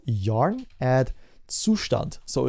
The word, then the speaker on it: Zustand: That's the German name. You properly pronounce it. It's my obligation as a German citizen to tell you how it's properly pronounced.